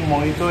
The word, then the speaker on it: Mojito: बहुत लोग बोल रहे थे कि मोहितो नहीं होता, वो मोहितो होता है, क्योंकि जे उसमें साइलेंट होता है।